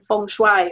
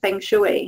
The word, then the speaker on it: feng shui: as natural health was in feng shui or feng shui, however you like to pronounce it.